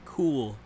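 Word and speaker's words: Cuil: called cool theory which I thought was named quill theory considering it's spelled see UIL but it's actually I found out pronounced cool theory I could see that really yeah I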